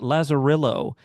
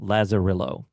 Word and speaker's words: Lazarillo: It's called Lazerillo and it is an Android app.